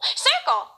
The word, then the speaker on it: circle: And now we get to the second C. This one has an L after it, so we know it makes the hard C sound. So it's circ, circ, oh, circle.